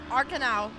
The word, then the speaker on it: Arkenau: And in a pretty respectable 4th, we have a Kyle Arkenau.